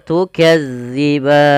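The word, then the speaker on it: تُكَذِّبَانِ: Jangan sampai kita membacanya panjang. Maaf bukan panjang, menggantinya dengan huruf zai. Contoh bagaimana? Tukazziban. Ah, itu diganti. Padahal dia tidak boleh. Yang betul bagaimana? Tukadziban.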